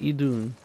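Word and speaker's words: Idunn: It's Idun.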